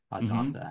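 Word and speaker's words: Ajinça: I had the French crew on my pod, and they did his name right. I still can't do it right. Ajansa, I think, is how you say it.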